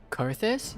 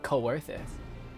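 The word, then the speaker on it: Coerthas: Carthus. You pronounce it Carthus. I've been pronouncing it coorthus.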